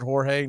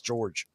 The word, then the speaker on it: George: in the last series George Soriano George is it pronouncing Jorge nothing it's George hahaha okay of course